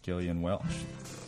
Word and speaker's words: Gillian Welch: know how to pronounce Gillian Welch I had to look it up on the Internet it's a hard G by the way everything is free